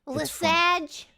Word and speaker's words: Lesage: So hence Le Sage, but which, by the way, any way you want to pronounce it is fine. Lesage. Lesage, go for it.